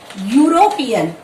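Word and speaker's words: European: यहाँ पर ए लगाएंगे, क्योंकि इसका साउंड कैसे आ रहा है, यूरोपियन। इसको प्रोनाउंस कर रहे हैं हम यूरोपियन, ठीक है।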